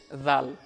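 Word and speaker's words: ذال: জাল জিহুবার আগা হতে নরমভাবে আদায় হবে।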